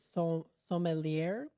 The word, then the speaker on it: sommelier: Now, of course, the sommelier, I guess you would pronounce it, sommelier, quickly intervened.